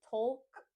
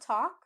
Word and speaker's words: talk: I've heard many students say tolk or talc, but we want to make sure we drop the L sound. We pronounce the word talk like walk, lock, chalk, or rock.